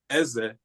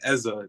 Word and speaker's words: Eze: Just it's pronounced Eze, but I go by Eza just because it's easier for people.